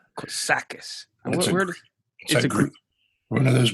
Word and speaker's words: Kotsakis: how do you say your last name good Sakas Sakas just agree one of those Greek that's sound